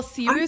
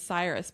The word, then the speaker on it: Cyrus: Well, Cyrus is the Persian the Persian pronunciation. So, and the American pronunciation is Cyrus, but maybe he goes by his Persian name. Cirrus.